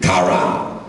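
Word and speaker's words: קרא: Run as a Hebrew word is pronounced roots. Run for whatever reason. Run, stretch, post, spread abroad. Read, kara.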